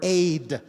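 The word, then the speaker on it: עד: When you put those two letters together, the Hebrew word aid is pronounced, and that means witness, because we are all witness to the oneness of God.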